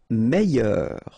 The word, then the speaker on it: meilleur: Meilleur. Okay, same thing here. I-double-L-Y. Meilleur. Mieux. Final X not pronounced.